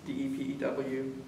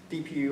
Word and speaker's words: Depew: That's DEPEW. Depew or Depew. Some people pronounce it differently, but that's where my parents had a farm.